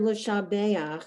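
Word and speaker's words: לְשַׁבֵּחַ: Usually when you see in Hebrew, you do the letter and the vowel under it, or the vowel on top of it, or the vowel next to it.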